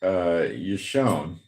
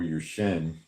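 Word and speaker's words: ישן: It's pronounced Yeshon or Yushen.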